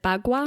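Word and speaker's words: Bagua: Is it called the BWA map? Is that how you pronounce it? Yeah, you got it right. The BWA map.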